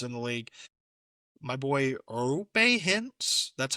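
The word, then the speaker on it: Roope: My boy Rope Hintz. That's how you say his name, by the way. It's not Rope, it's Rope Hintz.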